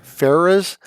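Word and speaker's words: faerzress: didn't know for aa track how are we pronouncing that fair Farrah's yes Farrah's so fair fairer is is a it's kind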